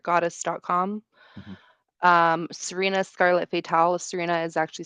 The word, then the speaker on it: Sirena: um Serena Scarlet fatal Serena is actually spelled s i r n a it's pronounced Serena um Serena Scarlet fatal